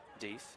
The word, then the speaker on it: Death: Pronounced Deeth, spelt death.